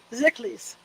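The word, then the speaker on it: Szekelys: Szeklis, the S is silent, have a right to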